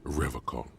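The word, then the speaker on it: Revachol: He pronounces Revaccom with a hard K, unlike other people.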